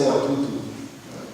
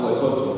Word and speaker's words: Watoto: That's very good because most people say Watutu. It is pronounced Watoto and it means children.